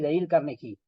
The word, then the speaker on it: Dale Carnegie: se llama da carnegie en realidad se escribe Dale carnei así Dale carnegie eh pero se se pronuncia creo que se pronuncia así deil carnei o deil carnei algo así Entonces es un buen